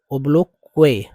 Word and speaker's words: obloquy: जी हाँ, इसे जो है, इसका शुद्ध उच्चारण ओब्लोक्वे, ओब्लोके, ओब्लोके, ठीक है?